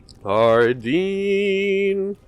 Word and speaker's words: Hardin: Hardin. Name rhymes with sardine.